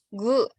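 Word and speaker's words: ぐ: Cara bacanya ku ya. Nah, terus ini kalau misalnya dikasih dakuteng, maka cara bacanya jadi gu. Jadi kalau ini aja, ku. Tapi kalau dikasih dakuteng atau yang petik ini, dibacanya jadi gu.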